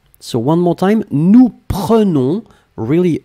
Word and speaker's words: prenons: Nous prenons, only one N, and that's the reason why you would pronounce the E like a E.